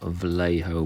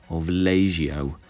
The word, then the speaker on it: Vallejo: is the throttle quadrant out of Vallejo black or Villagio whichever way you want to pronounce it but anyway moving on